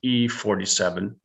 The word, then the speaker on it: I-47: eulethi where submarines uh i-47 pronounced e-47 in japan and i-36 were to